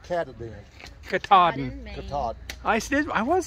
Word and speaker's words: Katahdin: Katahdin.